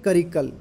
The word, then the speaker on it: करिकाल: जैसे चौथा सवाल है कि सर्वाधिक शक्तिशाली शासक चोलों का कौन है, तो इसका उत्तर है करिकल या कारिकल, प्रोनाउंसिएशन जैसे भी है, करिकाल बोल देते हैं या कारिकल बोल देते हैं।